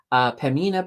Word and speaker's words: Pembina: I gotta be careful not to pronounce that B because it's silent. Pembina Pipelines is up 1%, so that's not too shabby.